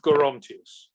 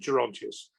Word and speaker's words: Gerontius: And I think if you are more Catholic, you say the soft, more Latin G. Right. And the hard G is a more Protestant. And I never knew that people said Gerontius until quite late on. I learnt Gerontius.